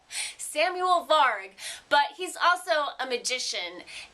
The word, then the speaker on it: Samuel Varg: And the thing about Samuel, well, one thing about him is he's Swedish, and I'm definitely mispronouncing his name, so I will let him say it correctly for you. Samuel Varg.